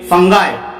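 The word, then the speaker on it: fungi: इन्हीं फफूंद को इंग्लिश में फंगाई, बहुत से लोग फंगी भी बोलते हैं, बहुत से लोग फंगाई बोलते हैं। प्रोनाउंसिएशन के अंदर फर्क है, तलफ्फुज में।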